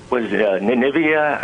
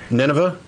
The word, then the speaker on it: Nineveh: at just give me an example well um was nevia I'm not sure if I'm saying it right it was a city that U Nineveh Nineveh yeah and that was wiped out it